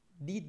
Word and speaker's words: di: Di dove sei? Primeiro, uma coisa sobre pronúncia, di, na ponta da língua, di. Di dove sei?